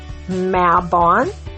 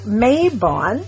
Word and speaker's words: Mabon: You may see it pronounced as mabon spelled m a b o n or mayabon spelled the same way. And I've seen it spelled with a y in it too. M a y b o n.